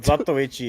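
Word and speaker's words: Zatoichi: Yeah, Zatishi is crazy. Zatui is the funniest name, but Zatichi is the correct pronunciation cuz it's Japanese.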